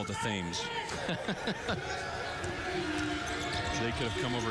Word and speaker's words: Thames: And the Thames is not spelled like T-I-M-S. No, no. T-H-A-M-E-S.